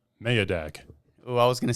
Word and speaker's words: Mayadag: so it's Turkish, and that's actually closer to the Turkish pronunciation. So I should have just went with my heart. Yeah, dude. Damn. So I think the correct Turkish pronunciation, like if you want all the sauce on there, Yeah. it's Mayadag.